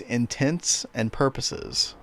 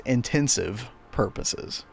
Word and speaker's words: intents and purposes: 20s chat when uh I always heard the phrase intents and purposes and I always thought of it as intensive purposes. So I would like pronounce it that way but it would be like close enough to the original saying that nobody would ever notice